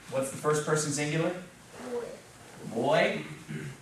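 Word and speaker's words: voy: Boy. Boy. And remember the V is pronounced a little more like our B in English.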